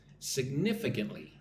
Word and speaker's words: significantly: Sig, nif, I, kin, ly. Significant. Again, the emphasis is on the second syllable. 1, 2, nif, significantly. Twee Nguyen is here.